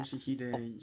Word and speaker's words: 俊秀: Toshihide. Toshihide Toshihide. Hi. You don't put any accent on any particular syllable in Japanese, usually. So it's not Toshihide. Toshihide or Toshihide, it's Toshihide. Toshihide.